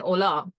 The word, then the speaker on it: Hola: What is with Krishna and Ola? Favorite. Stuck. It's his word of the year. And a lot of people have been saying hola. It's not. The H is silent, just letting you all know.